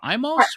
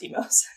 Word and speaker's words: Imo's: it was about uh was it Imo's Pizza or Imoz? I believe it's pronounced Imo's. I might be wrong. Um, I I I'm almost certain it's Imo's.